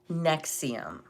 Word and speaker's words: NXIVM: Let's talk about number one, Nexium. That's spelled Nxivm.